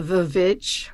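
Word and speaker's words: The VVitch: The Vivitch or the witch, depending on how you pronounce two V's next to each other.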